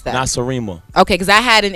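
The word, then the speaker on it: Nacirema: And how do you pronounce that? Nasarima.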